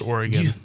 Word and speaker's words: Oregon: It's pronounced Oregon.